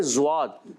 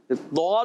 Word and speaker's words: ضاد: جی ہاں ضاد کو زواد پڑھنا یہ حرام ہے. اچھا یہ اردو تلفظ میں زواد ہوتا ہے یہ یاد رکھیں. اردو جو ہوتا ہے نا وہ زواد ہوتا ہے مگر عربی تلفظ میں یہ کبھی بھی زواد نہیں ہوتا.